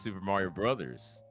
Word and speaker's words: Super Mario Bros.: It's Super Mario Bros. Yeah, But everyone says Super Mario Brothers for some fucking reason. No, actually, I looked this up, and apparently the consensus is it's Super Mario Brothers.